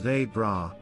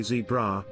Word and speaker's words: zebra: get annoyed when people don't say it as they bra which is how they pronounce it if you happen to say zebra be prepared to seriously be harassed until you